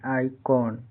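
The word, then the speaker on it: icon: यहां आई कौन आई सी ओ एन आई का उच्चारण क्या हो रहा है? आ हो रहा है यहां पे आई सी ओ एन आइकॉन यहां पे आइकॉन का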